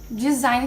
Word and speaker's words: design: Design que a gente usa em português também.